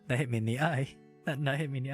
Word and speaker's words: へ: This is the character for he, but it's pronounced e. It's pronounced e. Remember that. It's pronounced e. It looks like he, but it's pronounced e.